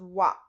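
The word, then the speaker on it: は: it's the hiragana but when it's the topic marker it's pronounced as wah no is the precessor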